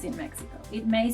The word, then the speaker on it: México: This letter has three different pronunciations in Mexico. It may sound like a J, as in Mexico.